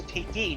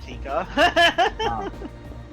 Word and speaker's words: Tiki: It's Tiki, not Tika.